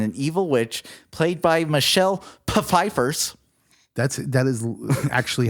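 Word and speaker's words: Michelle Pfeiffer: the throne and an evil witch played by Michelle peifers that's that is actually how you pronounce her name once to you use her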